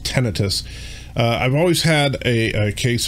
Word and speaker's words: tinnitus: i i don't know i've always called it tinnitus but i guess it's actually pronounced tinnitus i've always had a